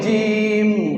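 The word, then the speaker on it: جيم: একই সুরতে 3 হরফ, নিচে এক নুক্তা হলে জিম। জিম কেমন করে উচ্চারণ হবে? জিবের মাঝখান আর উপরের তালু, জিবের মাঝখান উপরের তালু, আর শেষে 2টা ঠোঁট মিলে যাবে শব্দ শেষে।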